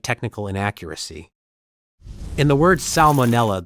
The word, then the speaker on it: salmonella: In the word salmonella, the first letter L is pronounced, despite many English speakers tending to soften or skip it in casual speech.